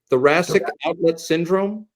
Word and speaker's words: thoracic outlet syndrome: Thoracic outlet syndrome? That is correct. Okay. Rhymes with thoracic.